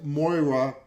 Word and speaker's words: Moira: Rose, all this stuff is collapsing in front of them, and Moira, I said it right.